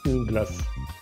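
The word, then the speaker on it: une glace: اون غلاس هي راه مؤنث، نقولو اون وما تنقولوش ان، ما تنطقوهاش ان غلاس، نقولو اون غلاس.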